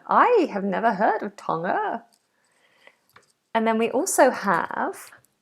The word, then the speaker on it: Tonga: double check we have oh no so we don't release that g Tong Tonga Tonga so we make it into a nasal at the back and then the release comes ever so slightly as we go into the schwat ending Tonga Tonga Tonga anyone